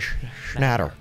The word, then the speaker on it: Schnatter: John Schnatter.